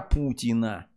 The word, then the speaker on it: путина: над нами байден сибас Путин а вы что каждый новый год что вы едите икра Путина это вам говорят нет там ударение другой слог Путина это игра Путина это